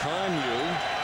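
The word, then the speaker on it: Kanuck: K-A-N-U-C-K, pronounced Conyu.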